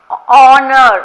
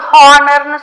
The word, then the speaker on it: honour: இப்போ ஆனர் அப்படின்னு சொல்கிறோம், HONOUR. பட் ஆனால் நம்ம வந்து அதை சொல்லும் போது ஹானர்னு சொல்லக்கூடாது, ஆனர் அப்படின்னு சொல்கிறோம். அது மாதிரி ஹானஸ்டின்னு சொல்லக்கூடாது, ஆனஸ்டி அப்படின்னு சொல்லுவோம். H is silent.